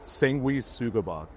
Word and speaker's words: Sanguisugabogg: So, give us the correct pronunciation. Uh, sangui sugab.